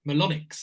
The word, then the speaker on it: Melonyx: Robert Louis and joined by Nadia Georgia AKA melonics and that's the right way to pronounce it isn't it yes indeed I'm good